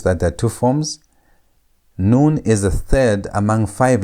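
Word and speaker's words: nun: Our next letter is noon. Noon. And noon sounds like N. It's N sound as in the word net. net. And again, notice that there are two forms. Noon is the third among five letters that have final forms.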